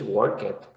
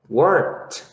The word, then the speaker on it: worked: So you never say in English work it. So you would say in English, yeah, worked. Okay, this is the pronunciation, worked.